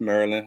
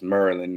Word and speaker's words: Maryland: Maryland home um not it's Maryland not I don't know how people not from Maryland say Maryland but I know how it's spelled but that's incorrect how it's spelled it's Maryland okay uh I can give